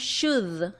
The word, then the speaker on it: should: Ahora bien, la pronunciación es similar a would. Nosotros no pronunciamos la O ni tampoco pronunciamos la L. Entonces no decimos should, sino que decimos should, should.